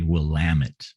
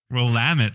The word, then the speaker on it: Willamette: And you want to say Willamette. Willamette. See, you want to hit that second syllable.